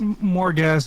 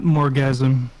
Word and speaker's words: Morgazh: on the map of Morgazh over here is number 4. So that is currently where we are. Probably one of the tallest mountains It's- in Morgazh. It's Morgazh and not Morgasm.